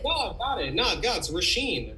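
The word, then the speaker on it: Róisín: to say it whoa got it no guts rasheen rasheen murphy i love jacuzzi roller coaster this song's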